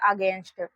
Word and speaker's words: against: AGAINST, देखिए बच्चों इस शब्द का उच्चारण होता है अगेंस्ट, तो यहाँ पर इसको हम लोग पढ़ते हैं अगेंस्ट, यहाँ पर ए से लिखते हैं अ। GAINST है, यहाँ पर इसको हम लोग पढ़ते हैं गेंस्ट, तो यहाँ पर गा